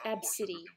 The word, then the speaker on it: Abcde: I think it is which is pronounced AB City this week well it